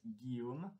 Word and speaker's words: Guillaume: not used to it so it is pronounced guillaume it is a french name which means that